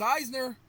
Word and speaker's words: Eisner: I was pronouncing an Elner because of it being on my t my computer. Let's see if he picked it. There he is. Eisner.